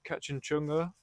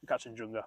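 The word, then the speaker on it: Kangchenjunga: last year he did catch and chunga that's definitely not how you say it yeah catch and junga I really shouldn't get that wrong being nepes I think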